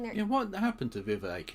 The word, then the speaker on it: Vivek: Yeah, what happened to Vivek? It rhymes with K.